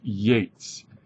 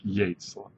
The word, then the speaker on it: Yeats: of his poems is Yates and it's pronounced like Yates um okay uh the